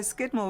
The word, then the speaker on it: Scudamore: No, Skidmore was the original pronunciation. And over the years, I suppose like all people, the way they formed their letters changed, and so Skidmore became Scudamore.